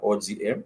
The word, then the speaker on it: oga: If you want to talk about, I mentioned the other verbs, for example, shower, it's oga, O-G-A, oga, oga.